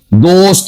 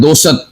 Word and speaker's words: دوست: ساکن، تے بھی ساکن۔ دوست، ہم کہہ دیتے ہیں دوست، دوست نہیں ہوتا، دوست، پوست، یہ ساکن ہے سارے کے سارے۔ تو یہ ہمیں تلفظ